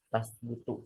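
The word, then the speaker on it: تَثْبُتُ: I'lam anna asma Allah taala la tasbutu tadi bacanya. Tasbutu Oh, dari sabata yasbutu mengikuti wazan fa'ala yaf'ulu. Jadi la tasbutu dibacanya illa binasin ya.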